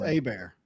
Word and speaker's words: Herbert: See, in Louisiana, that's A-Bear. It's Justin A-Bear. A-Bear? Yeah, that's how you say it, Louisiana. Is it because of the French? It's Cajun French. The Cajun accent there.